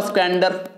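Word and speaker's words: squander: तो ऐसा नहीं कि अगर आप इसको स्क्वैंडर पढ़ते हैं तो स्क्वैंडर ही सही है, बहुत लोग इसको स्क्वांडर भी पढ़ते हैं।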